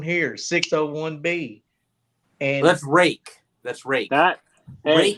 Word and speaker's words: Ruike: It's pronounced Rake.